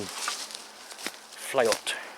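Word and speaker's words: fleot: but i reckon it's most likely from the old anglo-saxon flat if that's how you pronounce it it's spelled f-l-e-o-t and i think it might actually be pronounced something along the lines of flight rather than fleet from what i've heard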